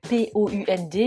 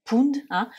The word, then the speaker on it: pound: Alors, on l'écrit P-O-U-N-D, mais attention, surtout ne pas le prononcer pound, mais pound. Très souvent, les lettres OU en anglais, ça fait le son OW.